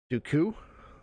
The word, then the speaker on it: Dooku: also heard some uh dooku jakku yeah dude yeah something like that yeah he puts that emphasis on that last syllable or something it's interesting